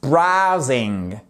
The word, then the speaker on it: browsing: Celui-ci, vous le verrez très souvent, mais attention à sa prononciation et notamment le A ici qui se prononce out, comme dans out. I'm just browsing.